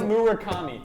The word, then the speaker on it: Murakami: Why did I Why did I mispronounce it? Munitaka. Not going to do it. Mura taka muri. It's Murakami.